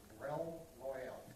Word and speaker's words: Realm Royale: Can you spell it? REALM. Okay, Realm Royale.